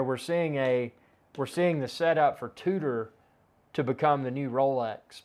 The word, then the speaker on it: Tudor: And in the early days, Tudor was, and it's spelled Tudor. It may sound like I'm saying Tudor, but I'm saying Tudor, like two doors.